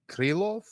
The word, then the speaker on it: Krylov: Do you know how to pronounce this light heavyweight contender's surname? Nikita what? Krillof.